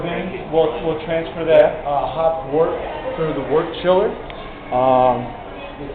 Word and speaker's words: wort: Wort's that sugary liquid that we made with the... how do you spell it? W-O-R-T. But it's pronounced like W-E-R-T.